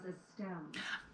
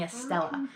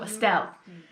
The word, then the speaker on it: Estelle: I do say it wrong because I kept saying Estella.